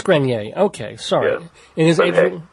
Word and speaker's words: Adrian Grenier: the actor Adrien grineer am I pronouncing that by the way I never know it's actually grer it is grer okay sorry it is